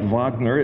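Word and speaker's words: Wagner: Like Vagner is actually spelled with a W.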